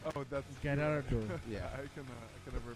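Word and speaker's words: Girardeau: I think it's called Cape Gallardo. Oh, that's Gallardo. Yeah. I can never pronounce it.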